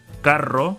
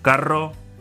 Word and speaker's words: carro: Carro has the two R's written together. Rojo and rosa start with the R, so they make the R sound. Carro, rojo, rosa.